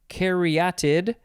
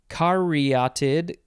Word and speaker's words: caryatid: next we have uh you could pronounce this a few ways caryatid carriotid carry it close enough this is a noun